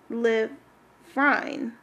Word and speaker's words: Phenylephrine: PH is pronounced F, so funny Phenylephrine.